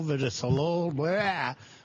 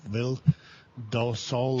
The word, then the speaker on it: Vildosola: I guess Gustavo Villasolo from San Diego. I will never pronounce his name right. Vildosola.